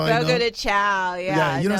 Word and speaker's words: Fogo de Chão: Fogo de chão.